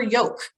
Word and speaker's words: Yoke: Sign up for Yoke. Like an egg yolk, except it's spelled Y-O-K-E.